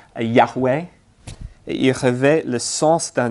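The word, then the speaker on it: Yahweh: d'amour avec lui on est prêt il se prononce yaway il revêt le sens d'un Dieu existant depuis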